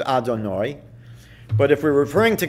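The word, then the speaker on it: Adonai: in our prayer books we pronounce it Adorno but if we're referring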